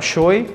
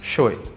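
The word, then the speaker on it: Choi: para não gerar confusão pronunciarei seu nome como é pronunciado normalmente no brasil general choe ou apenas show perceberemos também a influência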